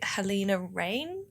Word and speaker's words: Halina Reijn: So, directed by Helena Rain. I think that's how you pronounce it. That's my anglicised pronunciation of it Yeah.